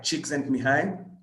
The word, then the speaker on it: Csikszentmihalyi: So that's what Martin Seligman looks like, and that's what that name is pronounced as Mihai Csikszentmihalyi.